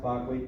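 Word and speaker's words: Berkeley: attributed to John Locke Barkley pronounced Barclay and David Hughes so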